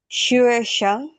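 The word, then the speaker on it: 学生: Ini U-nya titik dua juga ya. Hmm, U-nya titik Uh, dua juga. uh, Xue Sheng.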